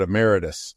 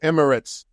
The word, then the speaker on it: Emirates: I kept thinking I was going to call it Emeritus, and I didn't want to mispronounce it. So Emirates, that's a Dubai airline, from what I understand, right?